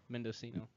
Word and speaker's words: Mendocino: for men man it's a hard name to pronounce man Cena or something mindo C no Mendocino Mendocino and I believe the other county is